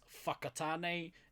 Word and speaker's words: Whakatane: You'll hear a lot of towns and place names in this country that start with the F. For instance, Whakatane and Whangarei.